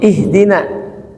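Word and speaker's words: اهدنا: Seperti ihdina, ihdi kan hamzah ha dal kasrah, maka awalnya kasrah.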